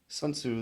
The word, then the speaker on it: Sun Soo: SunSu the correct pronunciation SunSu in Korean means pure.